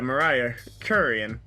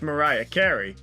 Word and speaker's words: Mariah Carey: think about the time i said i was distantly related to mariah curion the guy explained it's pronounced mariah carey oh that hurts